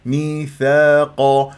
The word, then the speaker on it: ميثاقا: حركتين القاف من احرف الاستعلاء مفخم مرتبه ثانيه ميثاقا لا تقول لي ميثاق بن هكذا تنطقون اتقوا الله مفتوحه ق مفتوحه هذه ميثاقا